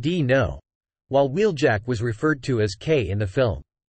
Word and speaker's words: Dino: Because the film at the last minute changed names, Mirage was referred to as Dino, pronounced D-No, while Wheeljack was referred to as K in the film.